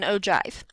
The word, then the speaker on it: ogive: It's spelled ogive, but it's actually pronounced with a J sound, an ogive.